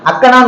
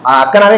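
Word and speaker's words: அஃகேனம்: அக்கேனம் அப்படின்னு தான் சொல்லுவாங்க அக்கனம் மூல அதான் அக்கேனம்ங்கிறது அக்கணமே கிடையாது முதல்ல அக்கேனம் தான் அதோட கரெக்டான தமிழ் உச்சரிப்பு இதுவுமே சாப எழுத்துதான் புரியுதா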